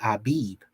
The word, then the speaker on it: Abib: equivalent of a y so they say abeeb and it's this is the abib so abeed and this